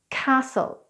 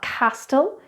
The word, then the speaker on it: castle: Likewise when it comes in the form of TLE as in castle so it's not Castille its Castle it's not apostille its